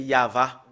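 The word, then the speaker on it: יהוה: Yod, He, Vav, E. Voilà comment on le prononce. Voilà, le fait de le prononcer, c'est Yava.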